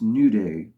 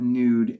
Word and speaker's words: Nude: japanese soldier uh so i wondered if it was pronounced new day um to seem more like in in line with how one would pronounce the japanese word but uh you know i looked up a few other videos and everybody else seems to say nude so i guess i'm